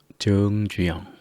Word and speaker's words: 정주영: 그래서 긴 발음은 의에 가깝게 읽어주시면 좋겠습니다. 정이 아니라 정주영, 정확이 아니라 정확하게